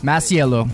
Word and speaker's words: Masiello: Like all through growing up, they were like Masiello, and I'm like, where's the extra syllable?